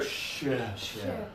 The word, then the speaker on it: ship: And now this one, low tongue, much more air. Ship.